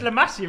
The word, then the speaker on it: La Masia: That's the most it's La Masia, isn't it?